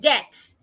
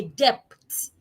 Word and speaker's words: debts: Another example is the word debts. d e b t When you owe someone, you are not in a depths. The b should not be pronounced. You are in a debts, not in a depths.